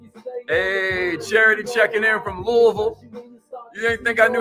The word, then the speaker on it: Louisville: Hey, Charity checking in from Louisville. You didn't think I knew how to pronounce that. I used to say Louisville until I met enough people from Louisville.